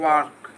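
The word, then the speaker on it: walk: D should वाक हां याद रखिए इस के का बोलने में प्रयोग नहीं होता है। वो के का बोलने में वाक इसको पढ़ेंगे। डी के पहले ऑल रहे तो ऑल का प्रयोग नहीं होता है। डी के पहले ऑल रहे तो ऑल का प्रयोग क्या नहीं होता नहीं होता है।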